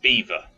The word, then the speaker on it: Belvoir: things alright it reads Belvoir Belvoir okay okay it's pronounced Beaver right why well it's